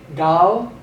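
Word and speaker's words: עַל: We're giving the ayin a slight G pronunciation. So this would be gal, gal, on account of.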